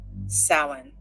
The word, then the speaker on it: Samhain: The Celtic Fire Festival, called Samhain, pronounced Samhain, in Ireland, Savin, in Scotland, and Samhain in Manx.